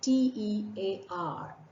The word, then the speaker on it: tear: is also a t-e-a-r water which comes from your eyes that is called Tear rhyming with fear and when something is torn apart or ripped apart with Force then what's left behind is called a tear rhyming with care take this example upon